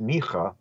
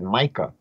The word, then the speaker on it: Micah: passage from the prophet mikah which Associated the Messiah with um the city of B leim again the way Christians misunderstood mik the prophet mik or they pronounce it Micah chapter 5 is that